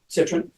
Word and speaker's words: Cytron: He lives in Santa Cruz with his wife Kathy Cytron, that's correct pronunciation. Cytron, in the home where they raised their two daughters, Kayla and Hannah.